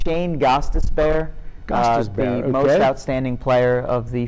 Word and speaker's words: Gostisbehere: Go ahead and pronounce his name. It's Shane Gostisbehere.